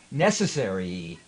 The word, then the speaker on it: necessary: 2011 uh which was necessary is four syllables you're kind of going NE necessary necessary necessary necessary if